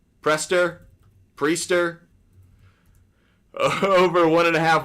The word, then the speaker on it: Priester: in a bit you're also going with Quinn presters prester Priester over one and a half walks aloud not